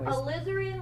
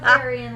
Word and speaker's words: alizarin: or quinacridone people yeah alizarin like slytherin not algerian like aryan all right so that's